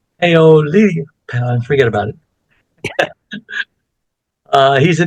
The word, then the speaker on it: Paolillo: Before we get started, I do want to take this moment and thank my last week's guest, Caregivers Redefined, Giancarlo Paolillo. I pronounced that wrong. Paolillo, forget about it.